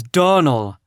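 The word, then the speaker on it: Donnell: i can assure you the name is donal and always has been the woman is crazy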